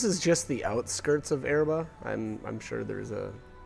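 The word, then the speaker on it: Oerba: to to get to erba that's how you say that or that's at least how the uh the characters pronounce it now that looks like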